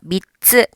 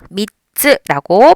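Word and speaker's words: みっつ: 그래서 미, 치읓, 츠 하면은 미츠. 자, 미츠도 하는 순간 미츠라고 들릴 수 있어요. 네, 그거 자연스러운 현상이니까 그대로 발음하시면 돼요. 미츠. 박자만 두 박자가 아닌 세 박자로 미츠라고 박자 감각 맞춰서 발음해 주세요.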